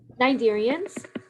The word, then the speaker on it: Cnidarians: Cnidarians. Oh, the C doesn't. Yeah, the C is silent.